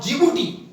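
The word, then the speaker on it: Djibouti: इसमें 4 देश आते हैं सोमालिया, इथियोपिया, इरिट्रिया और जिबूटी, जो कि जिबूटी की स्पेलिंग डी से शुरू होती है, ठीक है।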